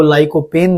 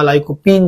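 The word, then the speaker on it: lycopene: plate तो जो आपको लाइको पेन देगा लाइकोपीन जो है या लाइको पेन जो आप प्रोनाउंस कर सकते हैं वो आपको मिलेगा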